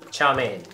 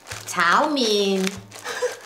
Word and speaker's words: chow mein: Last question: how do you pronounce chow mein? Do it nice and slow. Chow mein.